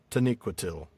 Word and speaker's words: Taniquetil: So, it's like there's um there is a secondary emphasis on that last syllable. Mhm. Uh though the first one is the louder or the the first one is the primary emphasis. And the the nee Taniquetil. Yeah, Tan- I'm sorry, the second syllable, but the first Yeah. Taniquetil. Third, third to last syllable.